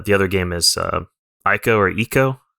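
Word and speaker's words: Ico: Guardian and uh the other game is uh Aiko or Eco how do you say it andron uh Eco oh it's one of those yeah okay so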